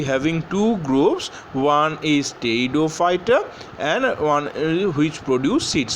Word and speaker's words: Pteridophyta: So you can see the spelling, it is starting with P, but the pronunciation will be Pteridophyta.